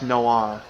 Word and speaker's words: Dusknoir: the Pokemon Dusknoir, it's actually very mispronounced. It's Dusk- Dusknoir. Yeah, Dusk Noir, because like noir films.